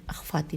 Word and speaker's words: اخفاتی: اور اخفاتی میں ہے الف پہ زبر ہے، خے فے الف تے چھوٹی ہے، اخفاتی نمازیں۔ لکھا ہے حضرت